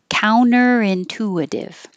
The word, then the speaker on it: counter-intuitive: reverse reverse counter-intuitive counter-intuitive you can also get rid of that t counter-intuitive that's over here counter